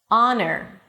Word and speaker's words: honor: There are some words that the H is there in the spelling but is absolutely not pronounced. And here are the words. Our it's not how. And yes, it sounds just like our as in our company. Our honest, not honest. Honor as in your honor.